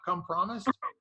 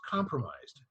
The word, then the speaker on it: compromised: And he says, "It's not come promised." Well, you know, it's oftentimes pronounced compromised, you know?